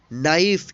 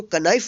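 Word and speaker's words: knife: जैसे यहाँ पे देखेंगे KNIGHT, NIFE, इसको पढ़ेंगे नाइफ, इसको कनाइफ नहीं पढ़ेंगे।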